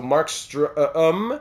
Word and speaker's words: Markstrom: The Markstrom is where I've been getting struggling a little bit, because the O in Markstrom is pronounced like the letter U in the word burn.